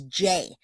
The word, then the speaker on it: Jai: And 1, 2, 3, my name is Jay. It's Jai and it's pronounced J.